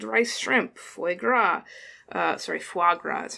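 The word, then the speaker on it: foie gras: zongi udon cold rice shrimp fagra uh sorry fagra that's how you pronounce that um and all of those are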